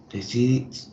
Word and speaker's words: decided: Sería we decided to... Decided. ¿Sí? No nos olvidamos de la E en inglés suena como una I. Y la I en inglés suena como una I. Decided.